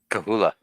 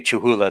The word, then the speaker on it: Cholula: Kahula. That's what it's pronounced. Yeah, But yes, I like- know what you're talking about. When you say Chuhula, that means you're trying to spell it out